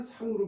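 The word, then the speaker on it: 向: 근데 이게 사람 이름일 때에는 상으로 발음을 하죠. 상 그런 경우가 있습니다. 사람 이름일 때 상이 돼요.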